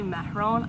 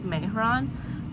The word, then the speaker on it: Mehron: always say this wrong i always say mahrone i actually think it's mehron but i pronounced it